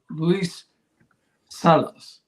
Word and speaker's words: Luis Salas: So next week we're gonna have Luis Salas. It's the way it's pronounced. It looks like sales, but and I met him once upon a long time ago.